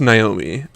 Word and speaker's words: Noemi: It's pronounced Naomi, but I will just send you the spelling, or I'll post it. Spell that Noemi. Why can't it just be normal? Naomi? Yes, it is pronounced Naomi. Naomi? Why can't I spell things naturally? Because that's not how the French work.